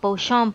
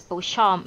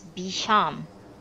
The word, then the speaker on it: Beauchamp: for something to happen he gets terribly upset if someone pronounces beauchamp as bisham odd state waiver house